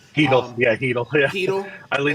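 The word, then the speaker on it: Chytil: I know they got Chittle, or however you say his name. Heedle.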